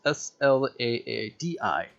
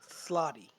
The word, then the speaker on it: Slaadi: Yes, Slaadi. Yeah, slotty. At least that's how I would say it.